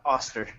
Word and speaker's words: Oster: is Oster from did I pronounce that right uh auster auster my apologies um from